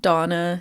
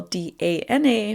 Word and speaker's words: Dana: it for myself again my name is pronounced donna spell d-a-n-a but everybody says dana but yeah i just